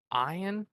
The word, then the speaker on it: Ian: scratched on the break he pronounces it with a long eye iron yeah no I'm uh